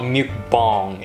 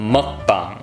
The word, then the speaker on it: mukbang: okay first of all why do people pronounce it mukbang asmr it's not mukbang it's mukbang all right get it right if you want some tips for pronunciation think like muk the pokemon muk and then uh bong i don't know uh